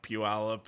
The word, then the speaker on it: Puyallup: well, and like Puyallup and Puyallup. Not Puyallup. Puyallup. Puyallup. I've never heard it pronounced that way, and I've been there lots.